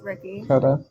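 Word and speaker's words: Riki: It's R I K I It's Ricky. Ricky. Okay. I just didn't want to pronounce it incorrectly.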